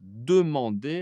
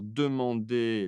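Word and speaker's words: demandent: elle pluriel ici pour demander alors demander le radical on enlève le er. Quelle est la terminaison de il ou elle pluale ? E N T. Je prononce différemment. Non, absolument pas. C'est pareil.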